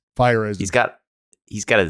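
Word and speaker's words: Feyereisen: How do you say his name? Fireisen.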